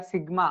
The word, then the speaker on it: sigma: Stress का साइन, okay, it is denoted by सिग्मा।